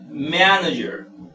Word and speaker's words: manager: Asimismo acá, manager. Manager, mayor fuerza de voz está en man.